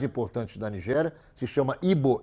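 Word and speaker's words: Igbo: da nigéria que chama hbo hbo hbo assim que se pronuncia existem usos é que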